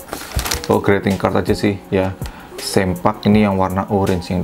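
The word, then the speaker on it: Ssempak: lebar sempak ya ini bacanya bukan selesaiin fuuka tapi sempat juga bukan bacanya bukan simpan tapi sempak kemudian di sini ada uh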